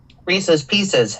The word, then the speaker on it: Reese's Pieces: Reese's Pieces. Well, that's what I say because it rhymes.